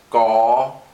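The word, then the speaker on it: ក: what you see here, which is pronounced gaw, gaw. So I'm going to go ahead and write that. Gaw. So this is actually similar to an English G. It's unaspirated, just a g sound.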